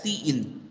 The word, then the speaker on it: cin: The keyword cin pronounced as cin, as we have pronouncing cout, I pronounce it as a cin, is an object similar to this and predefined in the C++ corresponding in standard input stream.